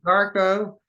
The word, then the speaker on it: Marko: No, his name starts with an M and ends with Arco. It rhymes with Darko. Marko, and his the rest of his name is HEITALA.